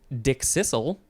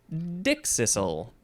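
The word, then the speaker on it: dickcissel: can pronounce this either dick Sizzle or dick Sizzle you can emphasize either the first or the second syllables it is spelled d-i-c-k-c-i-s-s-e-l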